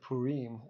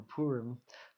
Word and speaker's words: Purim: of Esther is that the feast of Purim or Purim depending on how you pronounce it came out of this